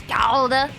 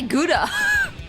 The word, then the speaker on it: Gouda: To be fair, everyone I know does pronounce it as Gouda. Maybe because I only know a single Dutch person. Oh, true, true. No, knowing more people definitely helps. We say Gouda in America.